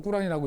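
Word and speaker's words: Quran: 코란 또는 꾸란이라고 읽는 건데 이거는 되게 옛날 거잖아요.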